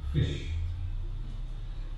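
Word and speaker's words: ghoti: The answer was fish. G-H, the F as in off, O, the I as in women, and T-I, the ship as in attention.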